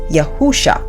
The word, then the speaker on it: Yahusha: The true pronunciation of the Creator's name, the Elohim of Abram, Isaac, and Jacob, is Yahuah, and the true pronunciation of the Messiah's true name is Yahusha.